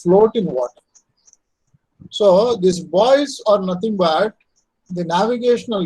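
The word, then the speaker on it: buoys: what is called boys this is pronounced as boys b-u-o-y-s boys are nothing but the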